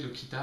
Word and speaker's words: Locita: gardé le Kida et je continue à le prononcer le Kita avec le avec la prononciation espagnole c'est ça un blog